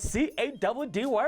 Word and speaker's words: Caddy: When you see that pretty boy on the screen, you know it's C-A-D-D-Y, pronounced Caddy.